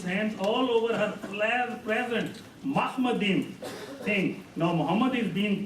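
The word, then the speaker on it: מחמדים: Now the word Mahmadim is a Hebrew word. It's plural. It's pronounced differently. Ma. It's not mo.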